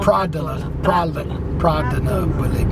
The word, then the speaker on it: Pratola Peligna: Pratola, no Pratola Peligna. Yes. Pratola. Like it's spelled, actually.